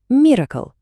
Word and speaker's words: MRKL: Вимовте це швидко. Виходить miracle. Miracle, тобто диво.